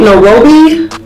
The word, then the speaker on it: Nairobi: Nairobi, that's how you say it, Nairobi.